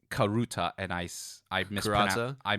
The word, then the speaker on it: karuta: because as you listing those uh Sports it's karuta and ice I Mis I mispronounced it I mispronounced as kurasa as well it's like the hiashi when it's